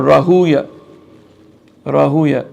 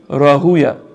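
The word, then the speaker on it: Rahwayh: But the correct pronunciation as has been transmitted by the scholars of hadith is or rauya rahuya. Yes my brothers no just the name is rauya.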